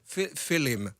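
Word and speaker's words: Fillim: Alors, ça se prononce Filim, je le dis correctement ? Film, Filim, voilà. Écoutez, c'est albanais.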